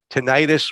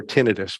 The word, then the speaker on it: tinnitus: for a patient with tinnitus or tinnitus pronounced both ways um which is ringing